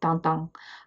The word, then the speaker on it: Tintin: Then in 1929, the big guy hits: Hergé's bare J's TINTIN (pronounce tawn-tawn) first appears in LE PETIT VINGTIEME, but he's big enough deal were actually devoting the whole next episode to him.